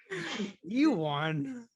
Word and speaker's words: Ewan: Ewan. That's how I call it. I think you're saying Ewan because of Ewok. Ewan. Spelling similar, but pronunciation's Ewan. different.